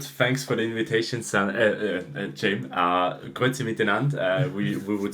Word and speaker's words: Grüezi miteinander: Grüezi miteinander, we would say in Switzerland.